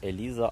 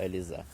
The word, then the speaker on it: Елізе: трьохрічного дерева по 6 сорт яблуні під назвою Еліза або Елізе такі таку вимову такі назви доводиться чути цього року така ось